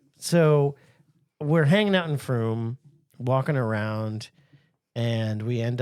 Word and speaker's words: Frome: Yeah, no, it's called Frome. And thanks, Brad, for the heads up because I was able to pronounce it properly and I didn't get labeled